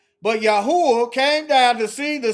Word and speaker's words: Yahweh: I say Yahweh, Yahuwah. Spelled the same in Hebrew, okay?